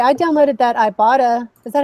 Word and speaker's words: Ibotta: Like, I was going to say, I downloaded that Ibotta. Is that how you say it, Ibotta?